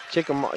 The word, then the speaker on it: Chickamauga: Chickamauga.